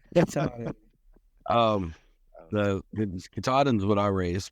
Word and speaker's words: Katahdin: Yeah, I was going to say, you made the point, the Catadine or Katahdin or however you pronounce that breed. I'm probably. I think it's Katahdin.